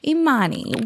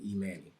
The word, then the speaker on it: Emanny: Now, did I say your name right? You you you did. You said it right. You said it. Well, what's right and what's wrong? Okay. So, my my mom and dad named me Emani.